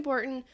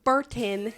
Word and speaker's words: Burton: Um, but Tim Borton, the corpse, Bordon. Tim Burton.